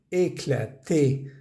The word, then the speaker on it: éclater: Veamos que todos estos verbos terminan en ER. Grupo 1, no pronunciamos esa R. Encourager, éclater, travailler, jouer. No es jouer, ni travailler, ni éclater.